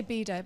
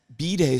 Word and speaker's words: bidet: But I'd say bidet, by the way. Bidet is... how you say it crazy. Around the world, yeah. Yeah. B-day sounds like it's your birthday.